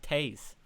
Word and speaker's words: Taze: We got a donation from Taze, and it says it sounds like Taze. It's Dutch, so that this name is actually pronounced Taze. Oh, okay.